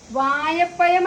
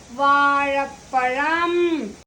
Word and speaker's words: വാഴപ്പഴം: മാങ്ങ മാങ്ങ ചാക്ക വായപ്പയം വായപ്പയം അല്ല കുട്ടികളെ വാഴപ്പഴം വായപ്പയം വാഴ വായ ഉച്ചാരണം ശ്രദ്ധിക്കൂ വായ അല്ല വാഴ ഉച്ചാരണം ശ്രദ്ധിക്കൂ വാഴ വായ വായ അല്ല കുട്ടികളെ